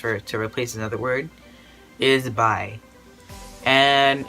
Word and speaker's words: bai: Well, it's pronounced the same way, but it's like spelled totally different, not B-I. It's actually spelled B-A-I.